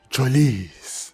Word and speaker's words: Trossard: I was impressed with Kristoff Trossard. That is how you pronounce his name.